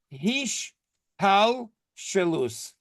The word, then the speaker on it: hishtalshelus: So there is in Hebrew, the word is hish tal shelus. Let me tell you how it's spelled if you want to write it down. HISHTAL SHELUS.